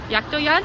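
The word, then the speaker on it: Jakdojade: If you're going to use them, there's an app called Yaktoyad, I think is how it's pronounced, but it's spelt like Jackdo Jade.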